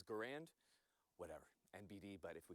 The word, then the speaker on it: Garand: Garand actually put out a note, and he asked that Garand. his preferred way of his name being pronounced was Garand, as in errand.